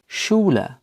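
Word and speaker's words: Schule: এর উদাহরণ হতে পারে শুলা, শুলা, যার অর্থ স্কুল বা বাংলায় বিদ্যালয়। অ্যাসপে বা অ্যাস্টে, এই দুটোর আলাদা আলাদা উচ্চারণ রয়েছে।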